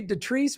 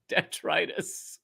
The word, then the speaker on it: detritus: even forgot the word what did you say detressed what was it called detritus detritus okay detritus i love